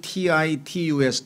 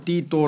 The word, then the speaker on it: Titus: 세상 사람들에게 알려진 이름은 타이터스 락의 영어식 발음은 titus 타이터스 라고 발음을 하구요 그 다음에 이거를 라틴어로 발이 마 발음하면 띠 또 라고 합니다 띠 또 그런데 이것을 우리말로 번역을 하다 보니까 디도 라고 번역을 애디 도어 사관이 옛날 c 우리말 번역을 보면 티를 전부 티로 해 놓고요 상당히 이름이 영어 원래 발음하고 좀 많이 달라져요 그래서 이 타이터스 라고